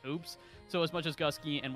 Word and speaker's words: gske: And gske, also pronounced correctly, because that's how he told me to pronounce it.